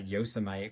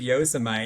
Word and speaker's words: Yosemite: I thought like yuseite I thought yoseite was the correct pronunciation. Like why not, right? You hear about Yoseite and then you read Yosemite and you don't realize they're even the same thing, right?